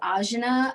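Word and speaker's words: आज्ञा: The Sanskrit term for this chakra is ajna, I believe is how it's pronounced, Ajna, and it means to know or to perceive.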